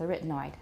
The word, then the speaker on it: arytenoid: pronunciation of arytenoid and my conclusion is we're sticking with a retinoid however they say one of the pronunciations is a retinoid honestly In My Memory that's the only way I've ever heard it pronounced in videos and in